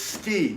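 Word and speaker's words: tsuki: This ski, T-S-U-K-I, is how you would Romanize the Japanese pronunciation, ski or spearing motion, right?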